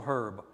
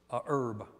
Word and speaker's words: herb: I've already talked about the medicinal herb, herb. You say herb or herb? Yeah. You either say herb or you're wrong. No, you're not. It's both, I don't have a clue. I guess both pronunciations are good.